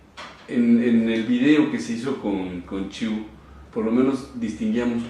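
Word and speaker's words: qi: fuego, el hombre es el agua, y hablaba Chiu que el semen acumulado se transforma en ki. Energía. Es chi, se escribe Kai.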